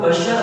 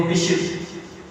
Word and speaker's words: بشر: حافی رحمۃ اللہ تعالی، اصل ان کا تلفظ بشر حافی ہے، اکثر لوگ بشر حافی کہتے ہیں، لیکن اصل جو اس کا تلفظ ہے اس لفظ کا وہ ہے بشر، حضرت بشر حافی رحمۃ